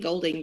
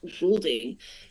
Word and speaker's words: Goulding: I've been saying Golding, but I've realised that is the incorrect pronunciation. It's Kent Goulding, and he's joining us from the States.